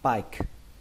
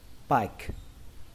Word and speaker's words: pike: Thì chúng ta sẽ đọc từ này là pike, pike, pike. Từ này có nghĩa là cá chó, pike. Ở đây các bạn hãy xem như âm E nó không tồn tại mà nó kết thúc bằng âm K luôn, pike, pike.